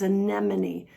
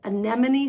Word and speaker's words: anemone: If I don't say anemone slowly, I'm going to trip the word up. So, I just caution you to move slowly as you're learning these words. Watch me. How long can I say it quickly? Anemone. Anemone. Anemone. That's it. Twice quickly.